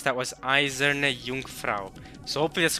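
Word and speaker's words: Eiserne Jungfrau: Third foreign so the way I heard her pronounce that was izerne Jungfrau so obvious correct pronounce pronunciation for the most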